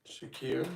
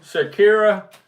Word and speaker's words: Shakira: have Shara how do you say her name Shakira Shakira Sabrina Carpenter Billy ish Teddy swims and Charlie